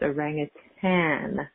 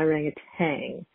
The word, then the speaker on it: orangutan: But thought I needed to call in and let you know that it's orangutan, not orangutan. And then it rhymes.